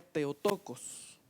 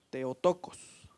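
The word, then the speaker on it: Θεοτόκος: y la virgen concebirá es una frasecita en griega que se pronuncia teotocos teotocos teotocos quiere decir la que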